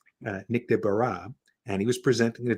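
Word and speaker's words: Nick Desbarats: who's Nick de bruh if you've never heard the name pronounced it's de Barrett's um Nick de barrah and he was presenting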